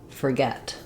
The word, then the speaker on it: forget: This happens in words like forget, where we stress on the get syllable. So then that OR doesn't have any stress. It gets reduced from or just to Not forget, but forget. So you can rewrite that with ER.